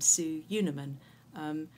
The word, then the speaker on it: Sue Unerman: in school assembly and I pronounce my name su Yuna Minh even after being at